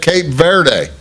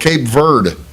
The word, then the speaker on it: Cape Verde: And uh you say, "Bruce, everybody else is calling that Cape Verde because well, it's Spanish vanish for ver for green." Verde. That's the word, but that's not how they pronounce their country. If you hear interviews with people from the country, they call it Cape Verde. I call it what they call it.